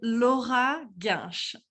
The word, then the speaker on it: Laura Gainche: name uh no so how to say my name loja garch in french and i'm a scientist